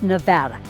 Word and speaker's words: Nevada: and I go, "No, it's Nevada. Let's learn how to say this, right?"